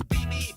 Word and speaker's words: BB: My name is BB pronounced with like BB gun and all the ho in the top 10.